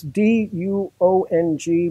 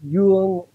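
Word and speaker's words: Dương: It's D-U-O-N-G, but it's pronounced Duong in Southern Vietnamese, or Duong, Central Vietnamese, Duong in North Vietnamese, Thuhuong.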